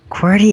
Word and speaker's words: Cordy: I will say it my name name is pronounced quty okay very good um